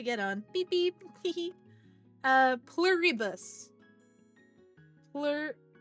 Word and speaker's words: Pluribus: Uh, pluribus.